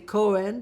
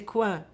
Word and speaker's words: Cohen: will say my name, rather than say Cohen, they will say Coin. Coin is a corner in French, So it's very funny because they will not pronounce the H, and a lot of people did not even know.